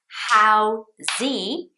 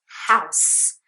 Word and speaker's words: house: that's not the word it's house so because at the end it sounds like a silent s it's an s sound not a z okay house at the very end sounds like a silent s although there is an e there this is the reason why it's just one syllable house so if it's not true if it was how z then that's fine it would be two syllables so do you see